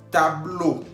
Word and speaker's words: tableau: Tableau. Tableau, que significa pizarrón. Estamos viendo al final, tableau lleva E-A-U, que se pronuncia O en español.